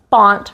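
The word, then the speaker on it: bant: So whatever silly move you want to do to remember bont rhymes with flaunt, go ahead and do that at the very end.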